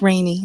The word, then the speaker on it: Rainey: Yeah, it's rainy, not sunny. I love it. I love it, Rainey.